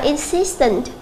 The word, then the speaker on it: insistent: Câu C chúng ta đọc là insistent. Tương tự như thế thì cái đuôi NT thì âm sẽ rơi vào phía trước nó.